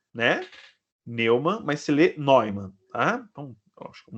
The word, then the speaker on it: Neumann: Se escreve Neumann, né? Neumann, mas se lê Neumann.